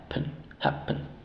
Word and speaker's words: happen: a es a y ahora la primera sílaba es la tónica y la segunda sílaba es la sílaba débil cuando una vocal se encuentra una sílaba débil en este caso pen la e se reduce a un sha O sea no decimos pen así no se ru un es